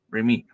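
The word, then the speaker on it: Rémi: in French is e in French my name would be REM you see Remy but obviously the I is for E Remi and the same thing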